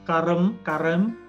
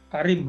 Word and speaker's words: Karim: itu ada kayak promo gambar bulan tuh, Ramadan Karem, bacanya apa? Karim, Ramadan Karim, Ramadan Karim 2023, trade, donate, and win.